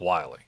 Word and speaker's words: Willie: Spelled, for anybody who's going to look that up, it's spelled like Willie, Willie, but it is pronounced Wiley.